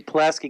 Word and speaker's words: Pulaski: poleski o + ki plus T at Pulaski Pulaski County is how it's pronounced okay then it's blue tennis Pulaski Academy